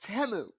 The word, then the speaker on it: Temu: and found out that teu is pronounced temu but you know what